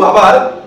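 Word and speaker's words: herb: কিন্তু আবার ইউএসএ তে এইচ ই আর বি ঠিক সেম জিনিসটা, ওরা আবার এখানে কি করে না? এইচের উচ্চারণ করে না, ওরা বলে আব, ই আর বি আব,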